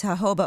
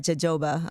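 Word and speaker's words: jojoba: Just learned it's Hoba oil, not Jajoba. Okay. Thank you. What did I say? I said Hoba. No, you said it right. Okay. This whole time in my life I've been saying it wrong.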